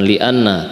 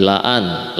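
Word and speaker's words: لَأَنْ: Hati-hati ya membacanya yang belajar bahasa Arab, bukan li'anna tapi la'an.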